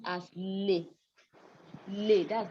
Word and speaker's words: les: is pronounced as lif lay that's how it's pronounced but so you don't pronounce the s because it's written alone but when we have